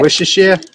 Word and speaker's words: Worcestershire: And how do you pronounce Worcestershire sauce? Go ahead, you say it. Worcestershire?